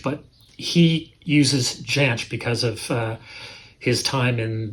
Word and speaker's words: Jansch: I believe the Scottish pronunciation is Jansch, and the English pronunciation is Jansch. So it could be either or. I think his family, I did a little research, and I think his family refers to it as Jansch, but he uses Jansch